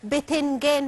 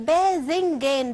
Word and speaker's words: باذنجان: احنا يا جماعه لما بنقولها ما بنقولش بتنجان، ما بنقولش الته، وهي اصلا النطق الصحيح باذنجان بالذال.